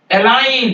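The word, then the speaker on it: align: बढ़ता वो क्या है जी साइलेंट बिफोर एन कभी भी यान के पहले अगर जी आ जाएगा उसको आप साइलेंट रखेंगे एग्जांपल देखिए फॉरेन ये देखिए जी के पह एन के पहले है साइन जी नहीं बोलेंगे डिजाइन जी नहीं बोलेंगे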